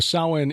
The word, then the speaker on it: Samhain: It looks like Sam Hain, but the Celtic pronunciation is Samhain. Samhain, okay. And but I'm taking out my Texas drawl, of course. It doesn't look like it, to our English reading, English speaking eyes. It doesn't look like it sounds.